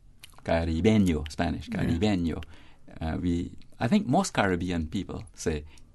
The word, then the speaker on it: caribeño: Another Spanish form of the word, which can be an adjective or a noun, depending on how it is used, is caribeño. That's Spanish, right? Whose syllabic stress, like that of Caribbean, as we prefer it, is on the penultimate syllable B.